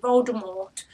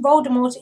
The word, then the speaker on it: Voldemort: in an interview that the tea in Voldemort is silent this may not be this may be to the fact that the French word Mort meaning death has a silent teeth magic rings does it